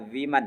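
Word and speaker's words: women: से ब्यूटीफुल अ विमन इसको क्या प विमन पढ़ते हैं ध्यान रखिएगा सही उच्चारण विमन है देखिए अगर यहां पर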